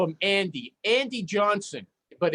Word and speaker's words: Jonsson: and it's Jonsson, Jonsson.